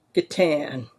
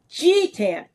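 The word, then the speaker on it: G'tan: And I thought, if you're going from guitar, it's obviously Gatan. We would get together at conventions and G-Tan, J-Tan, Boo-Tan.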